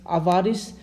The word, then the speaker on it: avarice: Next word है अवारिस. तो अभी आपको मतलब मेरे प्रोनाउंसिएशन से लग रहा होगा मैं कुछ वारिस कह रहा हूँ, अवारिस.